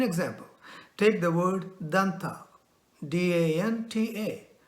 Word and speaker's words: danta: We have to use our teeth to pronounce the sound of the word danta. The tongue has to make an impact on the teeth.